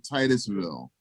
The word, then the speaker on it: Titusville: We pronounce it Titusville. Oh, Titusville. Tis.